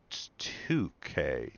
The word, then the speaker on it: toque: It's pronounced 2K. 2K. Is it toque or 2K? And the and no, there is no difference. It's just what we call beanies. Okay. Okay. First one toque.